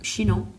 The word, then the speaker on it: Chinon: Bernard Baudry Chinon. Yeah. What? What? You said it right.